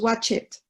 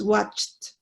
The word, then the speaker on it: watched: Aquí, watched, le vamos a agregar ed y por lo regular no se pronuncia. O sea, no va a sonar, no decimos watch it, no, es watched.